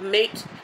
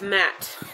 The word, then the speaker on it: matte: matte and metal like matte finish yeah not like mate like you know how the brits say mate friend no it's matte yes so this is